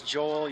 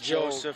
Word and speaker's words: Joel: That's why when you pronounce Joel, you have to make sure and swallow the L. Yeah, otherwise it comes out Joel.